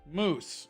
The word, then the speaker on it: mousse: Well, that's how you say that, though. Moose. It's pronounced moose.